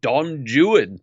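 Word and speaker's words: Don Juan: mistake and fixed it actually in Shakespeare Dawn Juan is pronounced Don Jan therefore Thailand nope well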